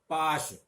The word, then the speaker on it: पाश: पाश, पाश का मतलब बंधन, और पास, पास का मतलब निकट। तो इस तरह पाश और पास में भी तालव्य और दंत्य स का अंतर आप देख सकते हैं।